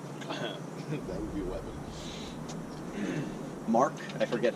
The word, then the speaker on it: marc: It's spelled Marc, M-A-R-Q-U-E, but the French pronounce it like Mar. And then when I say, "Oh, Mar," they're like, "No, Marc."